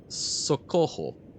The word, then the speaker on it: socorro: Also, in Portuguese, double R is pronounced the same as English H. Okay. So, socorro.